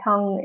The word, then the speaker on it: tongue: sight is silent, whereas the U and the E in tongue is also silent. So we do pronounce the G in tongue, but it's not as strong, although this depends on